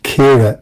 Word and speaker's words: Ciara: Ciara. Very good. Thank you. Is it Ciara or Chiara? How do I pronounce that? Kira is the pronunciation.